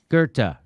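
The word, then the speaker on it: Goethe: or you did on this show you quoted gerta uh can you spell it g-o-g-e-o t-h-a i think i think that's it something like that g-o-e-t-h-e gerta very good very good very good i was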